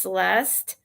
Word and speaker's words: Celesta: with this Celeste, or her name's spelled Celesta, but I guess it's pronounced Celeste.